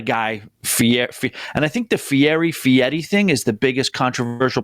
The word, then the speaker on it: Fieri: I had another name, and Guy Fieri. That's the way I say it. And I'm like, it's not spelled like that at all.